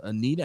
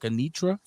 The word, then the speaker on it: Anitra: saying her name wrong i said uh anita it's like anitra holloman i think i was saying anita holman i will [ __